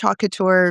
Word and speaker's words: haute couture: It's actually French. Haute Couture means high Oh, dressmaking. oh, okay. So I was even saying it wrong.